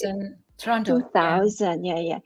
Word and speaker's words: Toronto: Toronto. 2000, yeah. Or to the locals, Toronto. Walang RW daw.